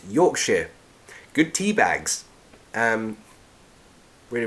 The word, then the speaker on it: Yorkshire: is a big step Marcelo asks Yorkshire or yor York yes it's pronounced Yorkshire good tea bags um